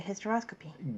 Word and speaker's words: hysteroscopy: Then you go to hysteroscopy. Go to the H and find hysteroscopy. It's spelled H-Y-S, okay? Not H-I-S, but H-Y-S. The hystero with a Y is the uterus.